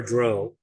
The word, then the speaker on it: drow: because we have Drizzlord, a good aligned drow or drow, if you listen to Gary Gygax's pronunciation. I have a former boss of mine actually played a game of D&D at Gen Con that was DM'd by Gary Gygax himself. And they had the Nice. drow, and Gygax called them Drow. And so I'm like, okay, it's the only time I've ever heard that pronunciation, but I can see why. Yeah, my head canon is always going to be Drow.